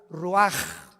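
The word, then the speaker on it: ruach: Roach así como suena se pronuncia la c en hebreo como J ruaj se le só y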